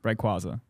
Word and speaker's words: Rayquaza: I'll say my favorite Pokemon is probably Rayquaza, I think, if that's how you pronounce Yeah, Rayquaza.